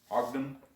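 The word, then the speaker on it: Hodgdon: i'm going to be using ogden that's how you pronounce that private x rs on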